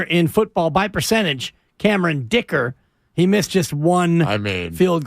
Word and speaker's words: Dicker: And you look at, like the best kicker in football by percentage, Cameron Dicker. He missed just one field goal. Rhymes with kicker.